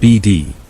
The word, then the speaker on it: Bead: I'd have never heard the strange story of the bead ranch, pronounced BD.